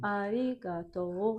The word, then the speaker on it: arigato: Arigato. I pronounce it as arigato. So do you hear the difference? You pronounce it ga, and I pronounce it nga.